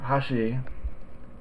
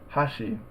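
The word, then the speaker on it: 箸: attempt it would be Hashi is chopsticks how she is bridge and Hashim is Edge so three different words um in Hashi the accent is on the first Mora huh um in Hashi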